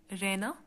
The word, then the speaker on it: Rena: For example, say Rena. So my name has two syllables in it. How? Re is one sound, na is the second sound. So Rena has two syllables. First is unstressed and the other one is stressed.